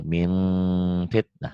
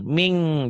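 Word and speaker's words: مِنْ فِتْنَةٍ: Bunyinya ada M-nya gitu. Min fitnah. Min fitnah. Jangan ming, jangan mulutnya jangan dibuka jadi kayak N ming, jangan ming.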